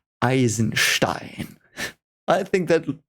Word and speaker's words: Eisenstein: You want me to pronounce it how it's pronounced because that's German. Eisenstein.